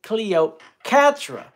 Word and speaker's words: Cleocatra: the one character who I want to keep pronouncing wrong cuz I'm so used to saying Patra but it's Cleo Catra which I love that